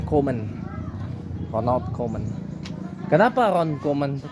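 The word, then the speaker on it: Koeman: comen on onold comen keman dibacanya komen Ronald komen Kenapa Ronal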